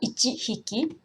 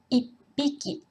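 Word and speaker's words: 一匹: Mais ce n'est pas ichi hiki, parce que, en raison de la prononciation, tihi, ichihi, c'est un peu difficile à prononcer, donc la prononciation change un peu. Donc, ça fait ipiki. Et comme il y a deux P, ça fait ipiki. Il y a un petit espace.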